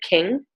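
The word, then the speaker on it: Qing: So this is, I think she pronounces it King.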